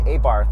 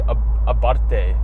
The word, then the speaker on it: Abarth: See, other people say Abarth. It's actually Abarte. Abarte. If I knew it was Abarte, I'd say Abarte every time. The TH, it's not a real TH.